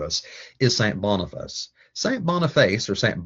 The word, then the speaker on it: Boniface: Boniface, or St. Boniface as he's more correctly pronounced, involves and is concerned with a mission